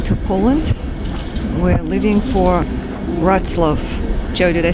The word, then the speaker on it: Wrocław: We're leaving for Wrocław. Joe, did I say it right? Wrocław.